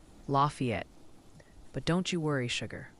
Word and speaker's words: Lafayette: It's pronounced Lafayette.